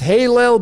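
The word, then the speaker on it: הילל: If you had the vowels in there, it would be pronounced Halel, but it's hell, man.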